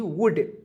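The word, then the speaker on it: would: वर्ड्स जाए आपके सामने जिसके अंत में ओ यू एल डी है तो इसे पढ़ेंगे दोस्तों ओ यू एल डी तो इसे पढ़ेंगे दोस्तों उल्ड नहीं पढ़ेंगे बल्कि उड पढ़ेंगे समझ गए बातों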